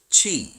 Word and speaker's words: Qi: The third invisible helper is called Qi, pronounced Chi.